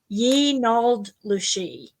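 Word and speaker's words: yee naaldlooshii: And according to them, they call a skinwalker, the way they pronounce it is Yi Nald Lushi.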